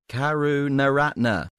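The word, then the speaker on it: Karunaratne: Lankan skipper good work God John Howard would pronounce them kuru no Ratna oh yes perfect find it Karen retinas the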